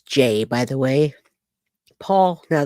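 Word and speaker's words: Jai: During the uh actual interview with Jay uh with Ja Ja and it's Jay, by the way, Paul, now that we've talked, it's J AI, but it's pronounced J A Y.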